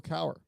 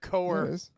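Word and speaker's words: Cowher: how did you uh how did you pronounce the second name hang on uh let's see uh Bill uh Bill Cower yeah that's not what you said you said coer you said coer did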